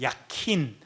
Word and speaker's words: 야긴: 약 사실은 약킨이라고 발음해야 되는데 약킨.